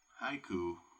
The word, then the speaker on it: haiku: Like haiku and it's going to bring up the word haiku, right? Right there. Haiku is ha-i-ku if it's written out.